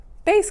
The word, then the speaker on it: bass: transition the name from bass clef sorry f clef to bass clef not bass bass is how that's pronounced so bass clef and